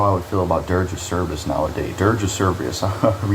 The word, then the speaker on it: Dirge of Cerberus: Dirge of Cerberus.